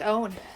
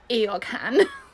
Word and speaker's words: Eorghan: Looks like eogan. No, I'm sorry. We're making a joke. Was I supposed to leaoga? So, it's an Irish spelling.